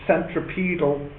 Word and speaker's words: centripetal: called the centripetal force centripetal or I suppose you could pronounce this centripedal that's okay too CED is this easier